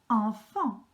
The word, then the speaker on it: enfant: Enfant. Have you noticed, in fact, you have E and an N and an A and an N. So you have the same pronunciation twice in this word.